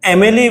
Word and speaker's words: M: In Marathi, people say MLA, but this is not like that. This is not yum. People pronounce it as yum. But this is not yum, this is M.